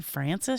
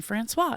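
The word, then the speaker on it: Francese: know and I said is it is it chicken Francis she goes chicken Francois and I was like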